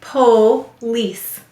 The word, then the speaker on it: police: Go ahead and write police. Good. Good. Help me to write it. The first syllable is po, p-o. The second syllable is lease.